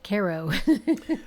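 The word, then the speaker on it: Cairo: is a favorite Midwestern pastime Oh Kairo Nebraska pronounced karo oh so Steve Kay Hagan says no no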